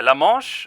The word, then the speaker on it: La Manche: Yeah, La Manche. Okay, yeah. You guys use that in English as well? You pronounce it like he swam through La Manche.